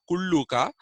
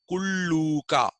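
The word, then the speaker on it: Kullūka: you have to produ pronounce that as Ooh not as U not kuluka but kuluka so kuluka lived in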